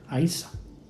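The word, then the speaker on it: Íosa: Ishu es también como se le llamaba en latín, Yesu, y luego en gaélico se escribe Iosa, pero se pronuncia Aisa, que es casi como lo pronuncian los árabes, ¿no?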